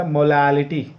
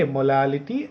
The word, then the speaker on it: molality: Okay, pronunciation is very important. Molarity, RT. And in the next we have two more expressions, that is the molality, ality. Okay, molality and normality.